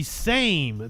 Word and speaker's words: Sejm: Can I get a pronunciation? Same. The Sejm.